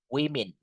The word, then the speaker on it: women: Anyway guys, don't forget if you want to say this woman tulisannya woman ini bacanya bukan woman but this is women.